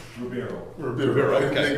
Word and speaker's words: Ribeiro: How do you pronounce the last name? Ribeiro.